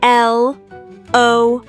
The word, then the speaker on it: Lori: It is spelled L-O-R-I and is pronounced Lori.